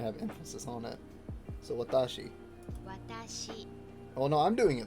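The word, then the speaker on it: わたし: in the table above when foreigners incorrectly stress the middle syllable of watashi the first watashi the first syllable is usually warped as a result and the final word sounds like watashi but wha is on japanese sound at all so if you play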